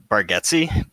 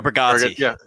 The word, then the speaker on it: Bargatze: I think it's pronounced Bargatze. Nate Bargatze. Yeah, there you go, Bargatze.